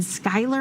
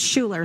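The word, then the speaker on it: Schuyler: for Fulton Mason and Skyler I believe you pronounced that I apologize if I'm saying that wrong but Doppler radar is showing us the considerable threat Schuler okay I'm hearing it's Schuler so thank you for whoever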